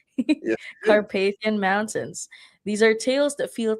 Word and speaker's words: Carpathian Mountains: Did I pronounce that correctly? Yes, you did. Carpathian Mountains.